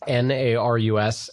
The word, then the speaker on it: Narus: are doing archimedes absolutely my name is Aris that's n AR us and like Nancy we are Archimedes group good